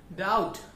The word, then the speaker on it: doubt: डाउट डी ओ यू बी टी, इसमें भी हम बी प्रोनाउंस नहीं करते, टी प्रोनाउंस होता है, बी साइलेंट रहता है.